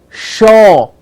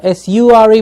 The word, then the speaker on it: sure: we no shame shake sure as such Oh re remember this is it's not su re but SH ou re sure okay the shore means